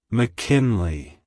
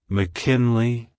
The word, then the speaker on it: McKinley: centuries it's pronounced as McKinley McKinley McKinley to pronounce it correctly emphasize the in in Mackin Le and make sure to stress the first syllable also the Le is